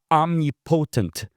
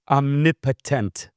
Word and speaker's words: omnipotent: that he is omnipotent, right? Omnipotent is the right pronunciation, but I just says omnipotent because it's kind of two words mashed together.